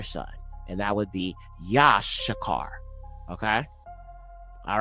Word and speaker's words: Issachar: Okay, so Yashakar. Okay, not Issachar, Yashakar. So you have two shen in his name.